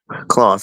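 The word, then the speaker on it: Close: CL Ki Claus CL is it Claus the head coach of UCLA masterful job in keeper who Cory Claus Claus so I said it right masterful job by her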